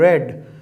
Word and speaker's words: read: देखिए, जो स्टूडेंट नहीं जानते हैं, READ रीड वर्ब की फर्स्ट फॉर्म है और READ रेड, वही लाल वाला, और थर्ड रेड। रीड अगर मैं फर्स्ट फॉर्म के रूप में बोलूंगा तब मैं बोलूंगा रीड, सेकंड फॉर्म या थर्ड